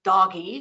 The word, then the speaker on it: DOGE: then you have the Doge yes Kathy I called it the Doge even though I want to call it doggy because I think that's a better pronunciation of the acronym uh but the department